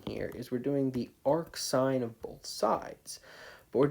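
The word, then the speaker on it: arcsine: And this sine -1, cosine -1, tangent -1, we call that arc sine, arc cosine, or arc tangent. That's how we would pronounce that.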